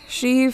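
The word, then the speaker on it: sidhe: or something something similar Bean for woman she for mounds and because it's uh Celtic languages she is spelled s i d h e alternatively she is part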